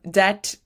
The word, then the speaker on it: debt: yeah nice Point um debt don't pronounce the b so it omits the